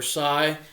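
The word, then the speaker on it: scythe: American belt life that's made out of a sith blade or sigh however you guys want to pronounce it up here at the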